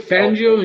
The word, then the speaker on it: Fangio: I don't know how to say his last name. If I'm saying that's it right. No, you said it right. Vic Fangio.